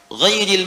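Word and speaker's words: غيرِ: Ghairil maghdubi alaihim waladdallin. Qara'al jumhuru ghairi bil jar. Mayoritas ahli qiraat membacanya menggunakan kasrah, ghairi, i.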